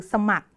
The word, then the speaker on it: สมัคร: ตัว ค นะ คะ เรา ไม่ ดู ตัว ร เรือ นะ รอ เรือ เรา ไม่ ออก เสียง เรา จะ ออก เสียง แค่ ตัว ค คือ สมัคร นะ คะ เพราะ ฉะนั้น